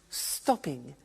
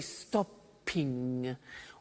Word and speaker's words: stopping: it becomes stop stopping now notice that in English pronunciation when there is a double consonant we don't hear it in the pronunciation so for example we don't say stop ping or swim okay not like other languages so the pronunciation stays